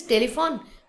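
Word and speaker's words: téléphone: Now you see my pronunciation is telephone. In English is telephone, but in French, telephone.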